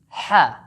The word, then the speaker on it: ح: Try saying these English words with me, but remember to use the middle of your throat and produce a firm and thick H sound.